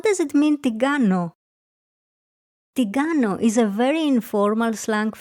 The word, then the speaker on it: την κάνω: And because we talk fast, the letters ni and kappa are pronounced together so it sounds τι κάνω and not την κάνω.